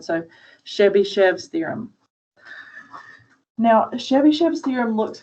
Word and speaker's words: Chebyshev: think it's pretty um it looks long but it's pronounced just like it's spelled so chevy chev's theorem now chebychev's theorem